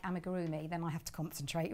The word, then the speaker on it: amigurumi: If I'm doing something like amigurumi, then I have to concentrate really hard, which is, as you know, do you know what amigurumi is?